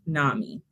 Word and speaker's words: NAMI: And Bart, it's pronounced NAMI.